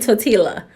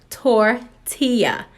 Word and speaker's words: tortilla: this time nobody corrected me I was saying to Tila now one of my friends was like it is pronounced tortilla I didn't know that I did not know